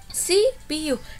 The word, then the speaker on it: CPU: apa ya hurufnya ayobaca cpu0 tapi kita bacanya harus sih Pi yuk apa sipiu Nah ini kenapa cuma